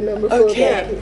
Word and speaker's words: nomophobia: my mobile iophobia yes aop phobia do we pronounce it noro so noobob that's right so you're a nomophobia that's right wow that's what you're describing it's